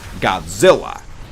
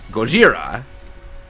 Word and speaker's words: Gojira: to read, he says, Godzilla. But because the actor and the character he plays are Japanese, he insisted, no, I'm using the Japanese pronunciation, Gojira.